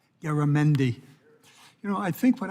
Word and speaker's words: Garamendi: Garabon. 5 minutes. I'm working on it. I'm having one of those mornings, I'm not sure I can pronounce my own name. Garamendi.